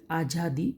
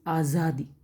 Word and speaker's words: आज़ादी: So pronunciation is not ajadi, it is azadi. Below ja, if dot is there, it is pronunciation is za, azadi.